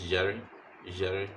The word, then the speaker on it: jere: It sounds like je in measure. Example in the Dagbani is jere, soup.